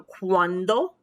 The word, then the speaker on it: cuando: and that includes consonants so hard c before the vowels a o and u consonants and a and um accepting h so cuando cuando cuales crema clima there's our hard c